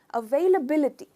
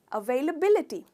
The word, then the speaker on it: availability: Stress हम करेंगे बी पर, अवेलेबिलिटी, अवेलेबिलिटी। तो दोस्तों अगर आपको कोई